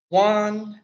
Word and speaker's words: Juan: But next is going to be our last special appearance, Juan. Mhm. Hello, my name is Juan. It rhymes with number one.